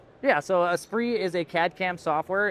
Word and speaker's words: Esprit: Is that Espre. So it's Spirit in French.